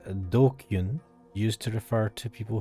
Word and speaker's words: DQN: all right what's happened japanese nestling pronounced dokyun used to refer to